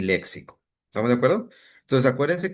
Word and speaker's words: léxico: Es con X y lleva acento en la E.